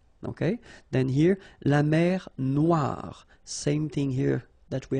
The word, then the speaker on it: noire: Then here, la mer Noire. Same thing here that we had previously. Final E not pronounced, okay? And then O-I, remember, wa, noir, noir.